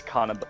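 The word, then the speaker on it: kanabō: Yeah, it's Kanabo.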